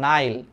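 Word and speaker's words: Nile: আবেগ দিয়ে পৃথিবী চলে না লজিক দিয়ে চিন্তা করতে হয় বুঝছো তাইলে দ্যা নীল দ্যা নাইল উচ্চারণটা ইংলিশ উচ্চারণ করে দা নাইল দ্যা নীল বা দ্যা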